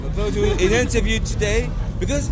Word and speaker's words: Vôdûn: Is the right pronunciation? Vôdûn. Yeah. Vôdûn in interview today because it's your first time you play here.